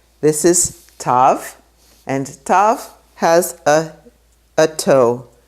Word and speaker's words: Tav: But today we just say t, Tav, like in Shabbat.